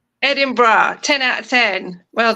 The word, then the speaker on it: Edinburgh: Edinburgh. Edinburgh 10 out of 10.